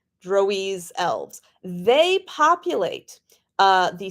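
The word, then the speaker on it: Drouiz: are and I'm probably going to change my mind how to pronounce this over and over uh droes d r o u i z drise elves they populate uh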